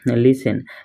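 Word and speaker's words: listen: শব্দ আছে তার ভিতরে দুই একটা সাম টি সাইলেন্ট থাকা শব্দ ব্লক যেন কয় ইয়াতে লিসেন লিসেন মানে হুনা ইয়াতে কি আছে টি টোটা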